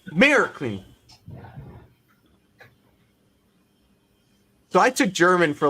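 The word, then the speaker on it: Märklin: The second syllable is soft. So it's Marklin.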